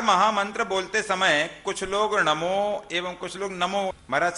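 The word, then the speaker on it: णमो: नमो नमो और नमो ना बोलना चाहिए, टठ ना, ना बनता है ना हिंदी का ना बोलना, ना नहीं बोलना चाहिए।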